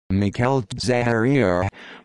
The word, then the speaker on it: Michele Zagaria: michelle zagaria italian pronunciation mikhail zaharia born the 21st of may 1958 is an